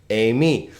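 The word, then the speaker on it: εἰμί: Amy. How many syllables here? Well, A is a diphthong, right? So it's a, me.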